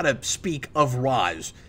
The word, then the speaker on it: Ra's: how to speak of Ra's. Shredder pronounces it like the animated series, and the way it's traditionally considered correct, Ra's. But everybody else says Ra's like in Batman Begins, which is why I